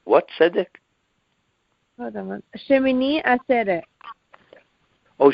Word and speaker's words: Shmini Atzeret: Shmini Atzeret. Oh, Shmini Atzeres. Yes. Okay, the way you pronounce it, Shmini Atzeret.